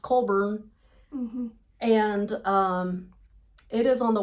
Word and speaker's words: Collbran: Okay, so Colburn it's spelled Collbran, Colbran. It's pronounced Colburn.